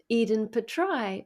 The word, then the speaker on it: Iden Petraj: country and I am very delighted to have Eden Petra all the way from somewhere else perhaps Eden